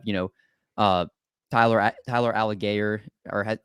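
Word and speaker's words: Allgeier: couple i have you know uh tyler tyler alligator or how you say his name alex um tyler algiere algier thank you from byu see i'm learning how to pronounce all the names i know it's bad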